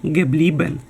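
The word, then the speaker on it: geblieben: дієслово яке читається залишатися Але у формі минулого часу воно читається геблібен тут вже легше префікс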